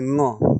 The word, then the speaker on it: ङ: जबकि इसका उच्चारण क ख ग घ ङ है, क ख ग ण नहीं है, ड नहीं है, अंग नहीं है, ङ है, ङ, लेकिन उच्चारण लुप्त हो रहा है।